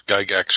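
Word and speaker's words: Gygax: uh don't worry john you pronounce guy gax correctly bye hi rob really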